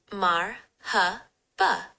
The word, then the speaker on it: marhaba: Mar hb and s la mu alikum.